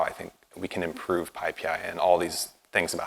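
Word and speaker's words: PyPI: know the joke but no the way you pronounce it is like this pi pi so I'm here to talk about pi PI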